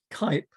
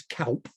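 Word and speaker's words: Cuyp: um dutch golden age kype i pronounce it but it more accurate if you say closer in other words to the dutch is calp kelp but i i i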